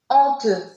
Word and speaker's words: honteux: La lettre X reste muette à la fin des mots qui se terminent par EUX. Exemple, heureux, honteux aussi. D'accord? Là, ces mots-là se terminent par EUX, donc on ne prononce pas la lettre X.